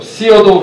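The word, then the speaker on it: Theodore: 당시 대통령 테오도 루즈벨트, 시어도 루즈벨트라고도 발음합니다. 그래서 1년 뒤에 1905년 8월 4일에 드디어 대통령을 만나요.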